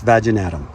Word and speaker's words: vaginatum: So when the flowers come out, it's bulbophyllum vaginatum, in case you guys don't know how to pronounce that. I know it could be tricky with that name, how you say it, but it's vaginatum.